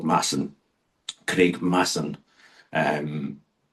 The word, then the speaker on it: Mason: But in the end, he eventually joins up with a a a a young cop called Massan. Craig Masson. Um M A S O N. It's often pronounced by people who don't better like people